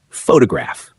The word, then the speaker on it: photograph: Take the word photograph. The stress sits on the first part, photograph. But add an ending and it moves. Photography shifts the stress to the second syllable, photography.